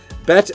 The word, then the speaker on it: bit: While the hefty majority of Americans pronounce the word bit like sit, there are some people, particularly in parts of Colorado, who say it like bet.